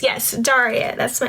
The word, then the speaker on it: Daria: um what y'all talking about how's my name pronounced yes Daria that's my name anyway so um yeah filming